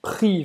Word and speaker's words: prix: Prix. Você não vai pronunciar esse chiche. Tu ne vas pas prononcer ce X. Chiche em francês é X.